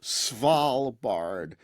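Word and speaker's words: Svalbard: yeah it's hard it's you say it like it's swal Bard but then you turn the V into a w because you know Norwegian yeah small B I'll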